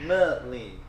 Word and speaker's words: melee: Melee.